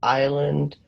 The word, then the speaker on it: island: This is pronounced island.